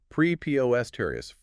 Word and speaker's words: preposterous: Prepo eststerius, four syllables, stress on the second.